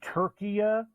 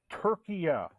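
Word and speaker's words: Türkiye: for us uh Julio I think we're pronouncing them turkia now turkia money line to beat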